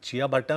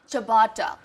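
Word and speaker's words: ciabatta: देखो अगर आप चिया भट्टा करके बुलाओगे तो पता नहीं वो देंगे भी नहीं आपको। तो कैसे प्रोनाउंस करते हैं इसको? चबाटा।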